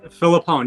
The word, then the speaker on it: Filippone: home inspector on is it is it phillipone is that how you pronounce last name philippon you got you nailed it you nailed it